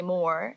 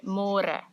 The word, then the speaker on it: môre: It's a little bit easier, but you have to remember to read môre because in English it's spelled like more. So don't say more, say môre.